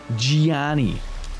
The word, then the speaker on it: Gianni: say it like that it's not johnny it's gianni they gotta say it like that or else it's